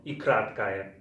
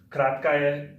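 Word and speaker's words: и краткое: And the next stranger we're learning is called ikratkaya. Now ikratkaya, it's pronounced like this, kratkaya, and it's like an E, but as the name mentions, it's short. Kratkaya means short in English.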